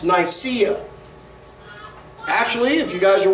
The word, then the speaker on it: Nicaea: finances now landy of what we think is pronounced Nicaea actually if you guys are wearing Nike shoes